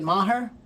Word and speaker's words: Maher: Am I pronouncing your name correctly? Is it Maher? Yeah, great. You're you're you're pronouncing you you're you're saying it very well.